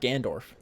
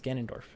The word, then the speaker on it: Ganondorf: saying his name wrong it's not gandorf it's ganondorf i'm cool all right